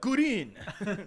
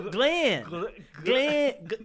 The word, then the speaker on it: Glenn: Green. Green? No, Glenn. Glenn. And the reason is because in Asian languages, there is no distinct variation between the L and the R phoneme.